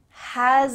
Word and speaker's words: has: That has a lot, has a lot, has, here we have a Z sound, has a lot.